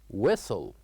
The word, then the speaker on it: whistle: And whistle is a word that has one silent letter which is in this case the letter H. So here we write edge but we don't say it. We say whistle.